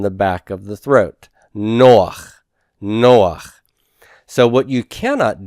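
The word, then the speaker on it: נח: It's not no ha. It's not no ha. It's noach. Noach.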